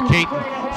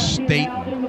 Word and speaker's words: Staten: the end zone is Caton for his 2nd touchdown of the game. Excuse me, I'm mispronouncing his name. It's Staten, a 1-yard run, and it's 12-0 in favor of Triton here in this crossover game.